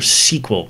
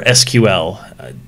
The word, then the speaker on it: SQL: come down and find your sequel category or SQL depending on how you want to pronounce it I think they're both acceptable pronunciations sequel SQL structured query language and